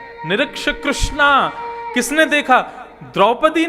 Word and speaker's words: कृष्ण: इसीलिए कृष्ण शब्द का जो लोग कृष्णा उच्चारण करते हैं वे सावधान रहें, क्योंकि यदि मुक्ति मिलेगी तो वैकुंठ में द्रौपदी आपका स्वागत करेंगी।